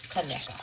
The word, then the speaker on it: Conecuh: Conecuh is spelled C-O-N-E, cone, Kaneka.